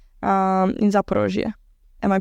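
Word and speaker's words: Zaporizhzhia: In Zaporozhye. Am I pronouncing that right? Yeah, correct. Zaporizhia.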